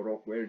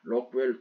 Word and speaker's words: 로크웰: 시험을 정적 시험이라고 하고 자이 로크웰도 제가 보고 본래 영인데 일본식 발음으로 록이라고 좀 강한 것 같아요 그래서 저는 이걸 록이라고 하는데 이게 뭐 록이나 록웰 두 가지가 다 있다라는 것을 여러분 그 유념하세요 저는 이렇게